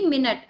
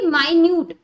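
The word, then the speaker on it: minute: सामने लिख दी है इस स्पेलिंग दोनों सेम है लेकिन इनका साउंड मतलब प्रोनंसिएशन डिफरेंट है जैसे कि इसको तो मैं क्या बोलूंगी मिनट और इसको मैं क्या बोलूंगी माइन्यूट ठीक है क्या बोलूंगी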